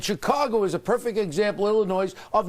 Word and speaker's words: Illinois: And Chicago is a perfect example, Illinois, of not dealing with it, giving in to the unions. You don't pronounce the S.